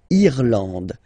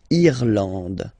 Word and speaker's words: Irlande: Irlande. Irlande. Okay, A-N, en, D, and final E, not pronounced.